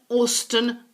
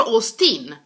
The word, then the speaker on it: Austen: Okay, then we have Jane Austen. Jane Austen, not Austen or Austin. Austen.